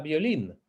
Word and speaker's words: violín: una palabra aguda no podemos utilizar la palabra violín en un endecasílabo no no significa eso significa